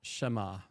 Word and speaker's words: Shema: So we just did the Messiah, so we're at Shema.